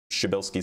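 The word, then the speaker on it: Przybylski: Shabilski star is how you say it by the way and there's so many letters in there.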